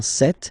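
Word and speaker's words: cette: or then set feminine set so you can notice that phonetically these two are pronounced the same way okay set here and then set here and for the plural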